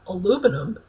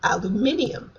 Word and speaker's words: aluminium: same thing, such as the metal Americans call aluminum and the British call aluminium, which is complete with the extra eye that you hear the word.